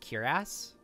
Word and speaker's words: cuirass: Well, that's how you pronounce this word. On the ancient cuirass.